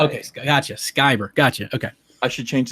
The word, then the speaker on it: Van Sciver: My name is pronounced Ethan Van Sciver, not Ethan Shiver or Ethan Scriver. I think I was saying Scriver. What is it again? Shiver? Skyver. Think Luke Skywalker.